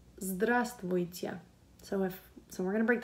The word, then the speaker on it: Здравствуйте: So здра, it's like you're saying straw, but with a Z sound and D. So yeah, that's fun. Здра, and then you do not pronounce this V right here. So здра. Ствой, ствой, ствой, and then тя. Здравствуйте. Здравствуйте. Здравствуйте.